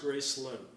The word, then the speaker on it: Graceland: It was the D is silent in the South. So it's pronounced Gracelyn.